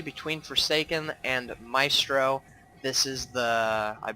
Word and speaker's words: ForsakeNXE: So, for those of you who don't know, ForsakeNXE, I'm going to mess that up a bunch. In the last cast of him, I called him Forsake, but it is pronounced Forsaken.